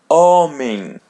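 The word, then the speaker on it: homem: Letter A or E in English comes before we're going to pronounce it as letter N. Actually, it's a white N. And the word oming oming. So don't say, say oming. Oming.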